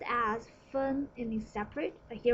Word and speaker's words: 分: And the lower part by itself is a character pronounced as fen, it means separate, but here we borrow the pronunciation only, fen.